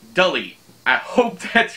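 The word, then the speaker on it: Delee: I thought it was Delete. It's D-E-L-E-E, but she says it's like Delete, Delete, without the T. So I'm saying Dully.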